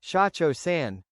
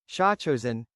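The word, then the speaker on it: 社長さん: The technically correct pronunciation would be shacho san, but the pronunciation shosen is meant to emphasize an accent associated with Filipino hostesses.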